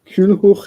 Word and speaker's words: Culhwch: So how Culhwch won Olwen, and Culhwch is spelled Culhwch, because W is a vowel in Welsh, sometimes, usually, commonly. So this chap named Culhwch